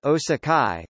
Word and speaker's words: 大阪市: Osaka Japanese, Da Ban Shi Hepburn, Osaka Shi, pronounced Osakai, commonly just Da Ban, Osaka, Osaka, listen, is a designated city in the Kansai region of Japan.